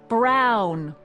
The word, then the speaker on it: Brown: to a t that's EMT Brown rhymes with clown which I I'm beginning